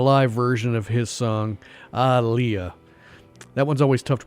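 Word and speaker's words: Ah! Leah!: Iris on a live version of his song aiah that one's always tough to pronounce in person because on the record it's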